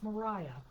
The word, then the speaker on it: Mariah: It's not Maria, it's Mariah."